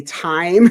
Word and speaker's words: Time: November 25th, with cinematographer Tim. So I'm going to have that flyer out real soon. It's going to say Time. It's spelled Time, but it's pronounced Tim, and he's a very talented cinematographer.